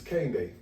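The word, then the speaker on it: Kehinde: he's Kane Day.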